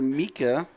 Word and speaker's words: Mika: That was to Mika. Or Micah. I'm going to call him Mika like the singer. It's how it's spelled.